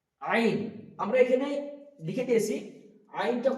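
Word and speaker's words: عين: তারপরে এখানে আছে আইন হা, প্রথমেই বলেছে হা উচ্চারণ করার সময় একটা হা বেরোবে, বাতাস বেরোবে, এবং আইনটা বের করার সময় আমাদেরকে কণ্ঠনালীর এই মাঝখান হইতে উচ্চারিত করতে হবে আইন।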